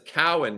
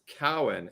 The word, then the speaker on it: Cowan: cake dennis cowan everybody that's a cowan not cohen dennis cowan and isn't it danny